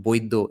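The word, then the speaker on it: বৈদ্য: The reason the middle letter is B is because it's pronounced Boiddo in Bengali.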